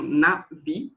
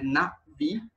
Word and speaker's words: Na'vi: assim que pronuncia, tipo, esse tracinho em cima, ele representa uma pausa glotal, que é basicamente esse som que a gente faz quando a gente para de falar automaticamente, então é Na'vi.